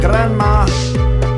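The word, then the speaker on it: Granma: If you pronounce it correctly, it sounds like Grandma.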